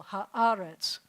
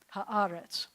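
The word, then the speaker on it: הארץ: So it says ha-ah, you have to accent that syllable, ha-aretz, ha-aretz.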